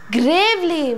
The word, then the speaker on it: gravely: Gravely means seriously. And first of all, it is not gravely. Gravely, it is not gravely.